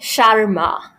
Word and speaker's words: Sharma: It's like Sharma. Like Sharma, not Sharma. No, not Sharma. Sharma. Where's the R? Sharma. And I'm like, You British people love adding R's where they don't belong, which is like, you guys made your own language.